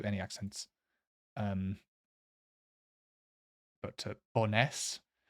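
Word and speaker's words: Bo'ness: accents um but to boness I think the emphasis like always or the stress is always in the second syllable in Scottish Scottish places pretty much always and ah what am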